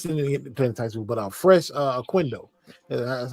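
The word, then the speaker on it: Fres Oquendo: No one F didn't play in Tyson, but Fresh uh Quindo, that's how you say his name.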